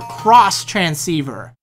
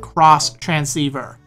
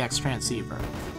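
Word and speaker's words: Xtransceiver: to give you your cross transceiver now the item is spelled out X transceiver but don't be a noob because it's pronounced cross transceiver although I'm guessing probably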